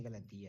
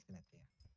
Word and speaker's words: Galatea: Why did I say Galatia? It's Galatea. Galatea. Actually, both that pronunciation is not correct. According to the Galatea. NPC, it's not, but It's Galatea. Galatea and Galatea are both technically correct.